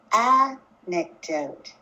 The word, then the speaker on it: anecdote: is it listen again anecdote anecdote as you can see from the picture my voice is higher in pitch at the beginning of this word anecdote how about this one